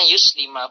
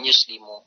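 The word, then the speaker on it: يُسْلِمَ: Nah, sehingga ini fi'il mudhari setelahnya ini terbacanya yuslima bukan yuslimu.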